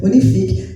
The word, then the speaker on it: Unifique: Unifique que se pronuncia Unific.